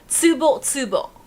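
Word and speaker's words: Tsubotsubo: So su sounds like you're sneezing is how my Japanese teachers always said it. So su is su and su is tsu. Tsu. It sounds like you're sneezing. Tsubo is how you say it.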